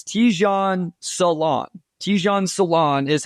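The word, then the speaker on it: Tidjane Salaün: their games and I swear announcers called him Saloon this it came out today I think it was NBA Communications West I think they had the initial tweet it's Tan Salon ton Salon is how it's pronounced according to that so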